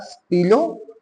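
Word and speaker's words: stylos: Pen is stilo, and pens are stilo. S is silent.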